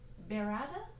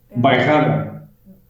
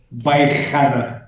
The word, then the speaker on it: Bairrada: So tell us the difference between Vino Verde and, I'm not pronouncing it correctly, but you just said it, Berada? Bairrada. Bairrada.